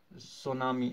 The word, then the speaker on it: tsunami: वहीं का वर्ड है, tsunami actually it is ts, that is why t is silent, that is why we write ts at its first।